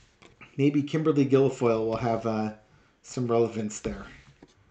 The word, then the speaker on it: Guilfoyle: and Kimberly Guilfoyle, which rhymes with gargoyle.